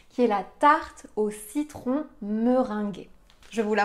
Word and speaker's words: citron: fois ça fait le son e citron dans citron à la fin on a le son h